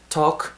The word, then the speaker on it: talk: 일단은 talk, T-A-L-K, 말하다 라는 단어의 talk가 L 사운드가 여러분 발음이 안 됩니다.